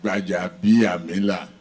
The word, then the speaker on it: Gbajabiamila: The Speaker of House of Representatives, Honorable Femi Gbajabiamila, yes, a tongue twisting, but the correct pronunciation is Gbajabiamila.